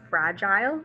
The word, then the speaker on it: fragile: Some people, I think, would pronounce this word fragile, and that's also correct. With my Texas accent, I say fragile. So that way, if you hear someone say it either way, both can be correct.